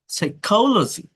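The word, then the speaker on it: psychology: ইয়া ই আর ইয়া পি এস থাকলে P silent থাকে সাইকি সাইকো সাওরা সাওরা সাইকোলজি সম সাম সম সাম সিডনিম সিডনিমডনিম এসটি এল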